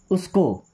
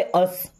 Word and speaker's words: us: US, इसे पढ़ते अस। क्या पढ़ते हैं, अस। अस मीन्स हमें, उस नहीं पढ़ना, अस मीन्स हमें।